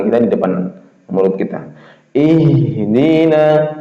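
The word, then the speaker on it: اهدنا: Ihdina itu masih keluar ya. Ihdina. Hames sifatnya hames dan dan juga sifatnya rakhah masih jalan. Ih enggak berung ihdina tapi ih ya kemas jalannya.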